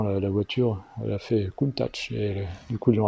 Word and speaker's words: Countach: C'est pas d'italien, donc du coup le CH ne se prononce pas que. A priori ça serait Countach, avec un T, Countach. La vraie prononciation, a priori.